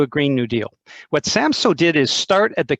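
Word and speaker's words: Samsø: up of europe is the uh region of samso and i i'll spell it out for folks if you want to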